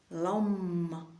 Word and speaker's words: lam: Lam lam lam lam l a m qu'on va prononcer avec la langue vraiment contre le palais pour faire durer le m lam.